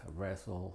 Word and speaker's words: wrestle: Y con algunas consideraciones es de que es muda cuando precede a la R, como estas palabras: rap, wrestle, write.